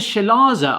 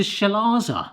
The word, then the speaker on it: chalaza: This has legitimately opened my eyes to chalaza. Am I even pronouncing that right? Chalaza. Chalaza. Not chalaza. Not cal. So it's not chalaza. It looks like chalaza. C-H-A-L-A-Z-A. Chalaza. Wow.